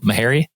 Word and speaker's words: Meharry: Am I pronouncing your name correctly? Is it Meharry?